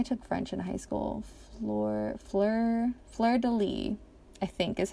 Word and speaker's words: fleur-de-lis: of fleur-de-lis, I took French in high school, fleur-de-lis, I think is how you pronounce it.